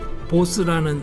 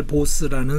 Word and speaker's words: Bose: 보스 정확합니다 그 보세요 우선이 bose라고 쓰는 패밀리 네임은 사실은 뱅갈 지역에 지금 뱅갈 주로 오고 주로 인도 동북 지역에 그 카야스타라고 하는 카스트 사람들이 쓰는 그 성입니다 vasu로 왜냐하면 뱅갈 사람들은 비하고 v하고 구별 안 합니다 같은 스펠링으로 생각해요 한국 사람들하고 똑같아요 그래서